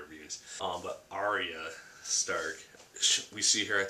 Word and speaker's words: Arya: But Arya Stark, we see her at the end of Clash of Kings, leaving Harrenhal with Gendry and Hot Pie.